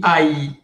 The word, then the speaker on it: ail: Ail suena E. Exception. Non, non, c'est une exception, c'est une règle. Si après ail, il y a un L, automatiquement on dit aïe. S'il y a une L después de aïe, on dit aïe. Pour eso se dice aïe, de l'ail, de gousse d'ail.